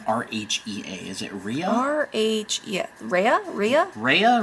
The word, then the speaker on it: Rhea: How do you pronounce the name R-H-E-A?